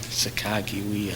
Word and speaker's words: Sacagawea: Correct pronunciation, Sacagawea. I've heard that before. That's the actual pronunciation. But like what English does for you.